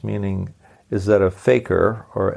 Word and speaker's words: fakir: three are you a faker Faker is a Muslim in Hindi derived word and it's pronounced about the same as is the word Faker f a k r